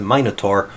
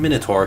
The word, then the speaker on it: Minotaur: he could keep the Minotaur on Crete? And I believe Minos can be pronounced Minos or Minos, and Minotaur can be pronounced Minotaur or Minotaur. I say can be because I choose for both.